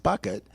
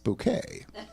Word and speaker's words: Bucket: So she always corrected people when they called her Mrs. Bucket because she was Mrs. Bouquet.